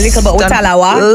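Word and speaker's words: Likkle but we tallawah: Because I mean Jamaicans they have this saying little but we tala. Did I say it right? Definitely little butawa.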